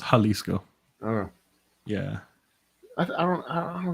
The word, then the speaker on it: Jalisco: not that J they they pronounce the J as an H so it's Jalisco yeah I don't I